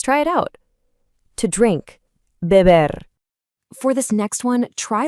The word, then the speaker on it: beber: In Spanish, the B and V sounds are often pronounced very similarly, almost like a soft B. Let's try it out. To drink, beber.